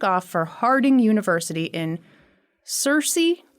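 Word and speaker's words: Searcy: for Harding University in Cersei Arkansas I think is how that's pronounced okay Cersei Arkansas best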